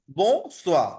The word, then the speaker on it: bonsoir: বো সোয়া, বো সোয়া মানে আর হচ্ছে গুড ইভিনিং, ঠিক আছে?